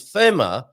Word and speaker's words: FeMa: Portugal show will be FeMa. I'm pretty sure that's how he would pronounce it, FeMa, rather than FEMA, as in the American organization FEMA.